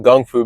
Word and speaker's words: gung fu: knowledge and understanding on gung fu aka kung fu back in the 60s they call it gung fu because that's how it's pronounced in China kung fu but later